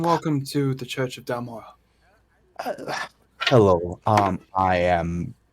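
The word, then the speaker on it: Dal-Mora: Dalmora. Mora. I'll spell it.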